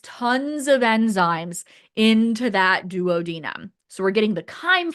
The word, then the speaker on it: duodenum: The first part when we go from stomach to the very initial part is called the duodenum. You'll also hear it pronounced dadnum.